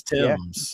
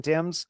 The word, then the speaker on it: Thames: Tames. Tames. Yeah, Mason Tames. Tames? Yep. Well, that's the river. That's how you pronounce the name of the river.